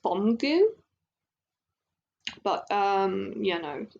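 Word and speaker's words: 범규: know I'm so like used to saying Byom Ju, but it's actually, I think it's pronounced Bomgu.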